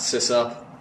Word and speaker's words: sysop: now by the way I say size up not sis up so yeah system operator